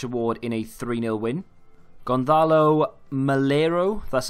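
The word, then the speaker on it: Gonzalo Melero: Gonzalo Malero, that's how you say his name, of Huesca, 2 goals and 1 assist in a 3-0 win.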